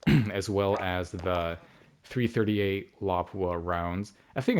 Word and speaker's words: Lapua: So as for the barrel, people traditionally use the SPR 26-inch barrel as as well as the 338 Lapua rounds. I think it's pronounced Lapua, not Lapua, but it doesn't matter.